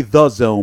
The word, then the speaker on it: DAZN: 90s discovery zone type market there but it's pronounced it's supposed to be the zone but they did the duh you know which